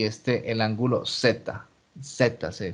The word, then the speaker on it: zeta: ángulo épsilon esa y éste el ángulo zeta ceta se pronuncia esa es esa letra griega esto es